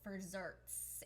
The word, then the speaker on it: Furzerts: he better send me one but it's called for desserts and it's spelled F u r ze r TS and